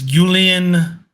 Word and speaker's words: Julian: um I've been saying the former Bayern manager's name wrong it's Julian we left Felix's name wrong too he had